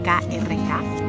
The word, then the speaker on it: Krk: Después de Rijeka fuimos a la isla de Krk, que se escribe K-R-K, Krk.